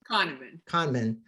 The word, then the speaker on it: Kahneman: Kahneman, okay, and many others.